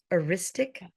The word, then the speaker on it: heuristic: the law of, you're going to have to pronounce that for me. Heuristic.